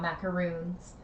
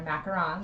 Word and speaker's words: macaron: They're not macaroons. They're macarons.